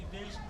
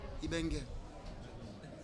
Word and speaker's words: Ibenge: Les gens vous appellent souvent Ibeng ou Ibing. Et quelle est la vraie prononciation ? Ibeng.